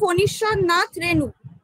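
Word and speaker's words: ফণীশ্বরনাথ রেণু: নাথ রেনু ঠিক আছে ওটার উচ্চারণটা হবে ফনিশ্বর নাথ রেনু আচ্ছা নেক্সট কোশ্চেনে আমরা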